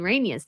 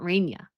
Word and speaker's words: Rania: Uh Sarah Moose says, "You pronoun- Mispronounce uh Queen Rania's name. It's Ra- Rania. Rania, not Rainia."